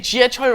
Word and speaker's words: 지하철로: say 지하철로 왔어요, 지하철로, you have to be careful about, normally you put a in between 로 and something that ends in a consonant, don't you? But this is an exception. So let's say truck, okay? You would say truck, that ends in a consonant, 기역. So you would say 트럭으로 왔어요, 트럭으로 왔어요. But in this case, 지하철로, you do not put the in between.